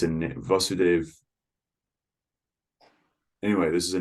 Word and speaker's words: Vasudev: vasudev so this is vasudev it's a short a you notice there's no line over the first a when there is it